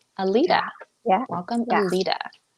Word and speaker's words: Aleta: Am I pronouncing that correctly? It's Aleta. Aleta.